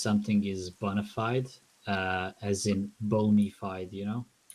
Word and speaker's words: bona fide: So that's Latin, and then people spell it Bonified, like it's an English verb. Boner. Boner fide. Bona fide.